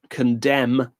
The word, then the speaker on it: condemn: The two letters I was after were M-N. Those words are solemn, column, condemn, and autumn.